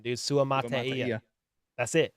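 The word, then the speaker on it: Suamataia: Cole, according to Dame Brugler, I already forgot how to pronounce his freaking last name, dude. Sua Mataia. That's it. Sua Mataia.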